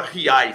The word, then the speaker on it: Giay: comigo, que é argentino, que na Argentina se fala Riai, se escreve Giai, mas eles falam Riai.